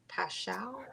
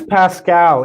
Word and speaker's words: Paschall: eric pascal or eric paschall i think it's pascal even though there's the h in there okay he's with the